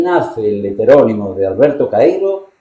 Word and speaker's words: Caeiro: ¿Cómo lo pronuncias tú? Caseiro. Alberto Caeiro. Sí, Rey Caeiro y Campos.